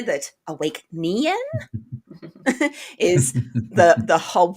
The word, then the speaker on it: Awæcnian: under our names there don't forget the a e and that lovely silent n there that awake nean is the the whole